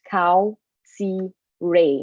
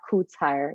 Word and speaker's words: Kautsire: little bit different uh it's pronounced cow c ray not koots higher so um don't be